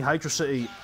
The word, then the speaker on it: Hydrocity: pronunciation for that hydrocity if you ask me hydrocity is the proper pronunciation it just sounds more correct in my opinion and it's still my